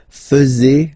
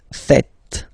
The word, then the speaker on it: faites: And it's quite funny because many French people tend to make the mistake and tend to say vous faisiez, okay? But then no. It's vous faites. Vous faites. Okay? So remember, final S here is not pronounced, and then this is not pronounced either.